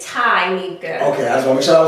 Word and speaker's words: Tyneka: Is it Tyneka or Tyneka? It is Tyneka.